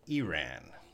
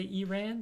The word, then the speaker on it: Iran: I can't get it Mujib says we pronounce it Iran Americans in Canada they say you ran I think we said